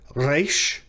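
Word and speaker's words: ריש: We Westerners and English speakers tend to want to say reish to pronounce it, and it is in our grammar said to make the sound of the letter R in the English word run. But Hebrew speakers pronounce it further back in their throat.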